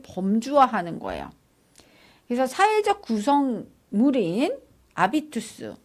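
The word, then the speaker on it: habitus: 그래서 사회적 구성물인 아비투스, 이 아비투스는 뭐냐면 헤비투스인데 아비투스라고 읽어요.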